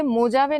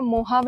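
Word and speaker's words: Mojave: एच लिखा है तो यह स्पेनिश टर्म है जिसमें जे जो है उसको ह प्रोनाउंस किया जाता है जैसे जेले पनो नहीं बोलते हेले पिनो बोलते हैं वैसे य मोजावे नहीं होगा मोहाव होगा फिर भी आपको कुछ एटलस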